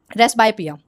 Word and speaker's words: presbyopia: फिर आता है रेसबायोपिया। रेसबायोपिया क्या होता है? इसमें पी साइलेंट होता है।